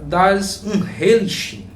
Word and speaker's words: Das Unheimliche: Nessa obra aqui que vai aparecer, que se pronuncia Das Unheimliche, né, que é uma palavra russa.